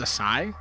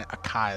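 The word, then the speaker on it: açaí: revive though is it is it is it pronounced a sigh yeah it's a s I've been saying a Kai this whole time like like a sberry it's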